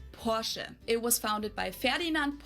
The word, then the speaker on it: Porsche: I've heard Americans pronounce it Porsche or Porshe. In German, we say Porsche. So, there's like this short e sound in the end, Porsche.